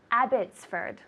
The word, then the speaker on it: Abbotsford: The second one, I'd like to send a package to Abbotsford.